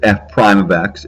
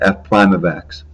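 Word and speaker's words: f′(x): line the statement on the left which is f prime of x is what's called the derivative of f and is pronounced as i just said f prime of x this isn't the only notation we'll see if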